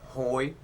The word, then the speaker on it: Hoi: um Hoy uh would you uh spell and pronounce your full name for us please well my full name is first name is Hoy h o i and the middle name is